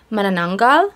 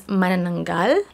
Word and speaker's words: Manananggal: You might have heard it being pronounced as Manananggal. Correct pronunciation is Manananggal.